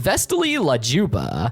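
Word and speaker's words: Vesti la giubba: The song that plays as Banana Joe points to Gumball and Darwin is the Vesti La Gubita, pronounced Vestali La Juba, by Ruggiero Leoncavallo.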